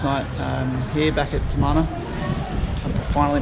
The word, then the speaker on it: Tamana: had here last night um here back at tamana i'm finally pronouncing it right um and then we're going to head off on the boat at about 11 11 30.